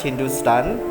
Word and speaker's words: Hindustan: Thapa states that the word Hindu is found as Hepta-Hindu in Avesta, African to Rigvedic Sapta Sindhu, while HNTSTN, pronounced Hindustan, is found in Sasanian inscription from the 3rd century CE, both of which refer to the parts of northwestern South Asia.